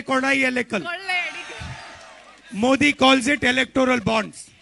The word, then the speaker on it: കൊള്ളയടിക്കൽ: Kollayadikal. In Malayalam you say kodayalekal.